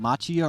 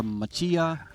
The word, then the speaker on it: Macchia: and your last name machia or machia how do you pronounce that well just like when you're going to Starbucks and you order a macchiato thank you very much